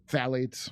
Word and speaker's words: Phthalates: Phthalates.